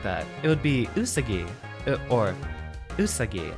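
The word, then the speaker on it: うさぎ: ah okay additional information japanese names have equal stress on each syllable it's not usagi nor usagi it's just usagi so there we go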